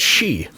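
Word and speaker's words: sidhe: a what oh yeah the word is s d h e oh yeah that's she what come on guys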